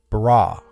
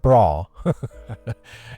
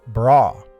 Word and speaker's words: bara: The word create here in Hebrew is bara. Not bra. Maybe that's how it's said, but it's bara.